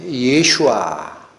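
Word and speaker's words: ישוע: 예수라는 말은 원래 히브리어 발음대로 하면 예슈아 이렇게 읽히는 단어입니다.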